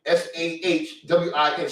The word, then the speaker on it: Samhain: I think it's an Irish word, but they pronounce it Samhain, Sahwin, Samhain, but it's spelled Samhain.